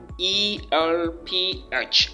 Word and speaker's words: Guelph: All right, I call it Guelph. Guelph is, well, anyway, the shape of my mouth may not be the best, but it is pronounced Guelph.